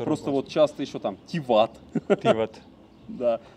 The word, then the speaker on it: Тиват: Но все-таки вот чаще я слышал ударение на вторую лицо. Угу. Просто вот часто еще там Тиват.